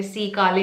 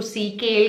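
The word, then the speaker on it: sea kale: hydrolysed cation है इसमें सी काले है इसमें आई नो बहुत सारे लोग शायद इसको सी केल कहेंगे बट the correct way to pronounce it इज सी काले एनीवेज दैट दैट डज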